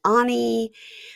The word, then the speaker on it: Ani: Um, alrighty, let's move on to Matt and Imani and Ani, who now I'm just writing AHNEE, so I say it correctly.